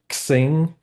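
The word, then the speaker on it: SearXNG: to tell me that the x is actually a a Greek character and pronounced Chi so searching makes a ton of sense now yeah that makes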